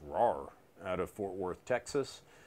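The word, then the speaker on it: Rahr: from a HomeTown Brewery RAR and Sons pronounced RAR out of Fort Worth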